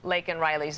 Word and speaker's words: Laken Riley: Laken Riley's name, though he mispronounces it, says Lincoln.